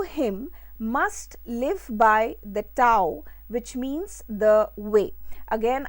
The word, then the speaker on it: Tao: Those who follow him must live by the Tao, which means the way. Again, I would like to emphasize here or bring to light that it is written as T-A-O and pronounced as Dao.